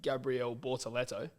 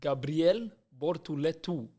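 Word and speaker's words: Gabriel Bortoleto: So, you know how the English ways, you know, Gabrielle Bortalto, it's actually pronounced Gabrielle Bhortto.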